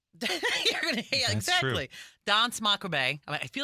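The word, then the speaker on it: Danse Macabre: Some people don't even pronounce the r on the end. So you just say dance macabre.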